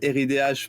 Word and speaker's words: Ridh: Alors, on dit plutôt RIDH.